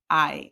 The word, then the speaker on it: hay: So start looking at your or things, objects, and use the word I. Remember that it's pronounced like this, I.